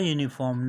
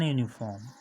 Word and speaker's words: uniform: see here it begins with you but it is not at all a vowel sound it begins with sound here your uniform so a uniform not an uniform a unit and an